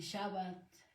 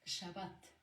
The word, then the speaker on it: Shabbat: Lo que comentaba aquí del Shabbat, no lo correcto, porque es un estudio profundo, no es decir Sabbat ni Shabbat, la terminología correcta es Shabbat, ese es lo correcto, ¿no?